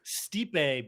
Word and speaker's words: Stipe: Stipe, but he's the Michael Stipe of MLS.